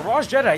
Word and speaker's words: Rassjedii: Yeah, Rassjedii.